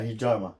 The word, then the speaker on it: Hijama: House of Is that how you pronounce it? yeah, hijama.